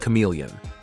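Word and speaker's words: CM3leon: Meta has unveiled its remarkable generative artificial intelligence model known as CM3 Leon, pronounced like chameleon.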